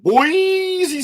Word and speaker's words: Boise: H Butler taking on Boise State I think somebody didn't like our pronouncing on Boise so boyy State Rolling Along we got